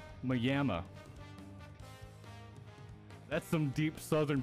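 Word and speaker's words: Maimi: grow up next to a place that was spelled like Miami m-a-i-m-i what literally everybody in the area pronounced it as mayama that's some deep southern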